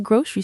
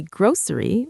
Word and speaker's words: grocery: You can say grocery with an s sound or as many people in the US do, you can say grocery like it has an sh sound in the middle.